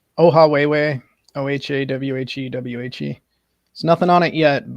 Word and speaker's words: Ohawhewhe: Emily, his channel, if you want to pronounce it again, I'll write it in the chat too. Yeah, it's Ohawhewhe, Ohawhewhe.